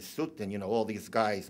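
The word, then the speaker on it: Soutine: In Smolovich, not to be confused with Smilovich, famous for Chaim Sutin, and the local pronunciation is Sutin.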